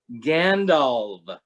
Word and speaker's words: Gandalf: he wrote is that if a word ends in the letter f it's supposed to sound soft like a v like elve and dwarve and gandalf everyone has been mispronouncing gandalf according to tolkien's own pronunciation guide in the return of the king mexico tell me the